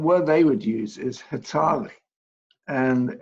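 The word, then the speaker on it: hataałii: they would use is hetali and any navajo is listening in please forgive my pronunciation i'm doing my best but it's hitali and that word is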